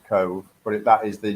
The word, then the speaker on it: Cobh: they were buried in cove does that i guess is that place well it's actually spelled c o b h not not c o v e c o b h it's pronounced cove but if that is